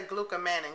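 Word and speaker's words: glucomannan: Manon I don't know I know I keep pronouncing it two different ways but we'll say gluc Manon cuz it's m a an n a n okay save that for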